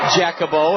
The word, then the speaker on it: Jacobo: his teammates call him jacobo and that's because swing and a miss that's because most of the english speaking fellows sometimes forget as i do that j in spanish is pronounced y or else we call